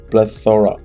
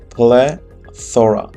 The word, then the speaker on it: plethora: first word is plethora plethora how we pronounce this is that play thora plethora it means a lot